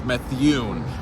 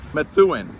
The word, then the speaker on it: Methuen: me work on that Methuen that is the correct way to say this the town of mathuin